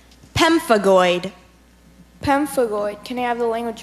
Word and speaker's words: pemphigoid: why idiocracy that's correct pemphigoid pemphigoid can have the language of origin pemphigoid comes from Greek can are there any alternate pronunciations it can be it's very slight its pemphigoid or pemphigoid can I have the